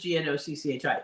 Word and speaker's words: gnocchi: we're making Yorkie so not everybody knows how to pronounce it when they see the word g-n-o all right so now this is gnocchi anyway um we don't